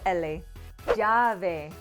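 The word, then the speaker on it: llave: examples with the double la jave do you hear the difference between the single la and the double la perfect now let's see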